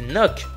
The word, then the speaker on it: knock: Et knock, on ne prononce pas le K.